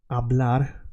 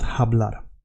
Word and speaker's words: hablar: And the H in Spanish, as you know, has no sound. So we say hablar, not hablar.